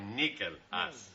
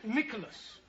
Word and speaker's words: Nicholas: Once upon a time, there was a woman called Nickel Ass. It's pronounced Nicholas.